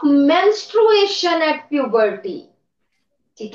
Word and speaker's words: menstruation: बोलिए माइक ऑन करो और जोर से बोलो मेंसुरेशन मेंस्ट्रुएशन मेंसुरेशन मेंसुरेशन तो मैथ्स में पढ़ते हैं हम इट मेंस्ट्रुएशन स्पेलिंग ठीक करना है यस नेक्स्ट स्टूडेंट हाजी